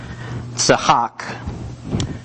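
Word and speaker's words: צחק: So the Hebrew word tzahak, which I know is super, super phlegmy. This is like a TS.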